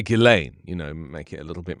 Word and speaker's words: Ghislaine: Ghislaine, there you go.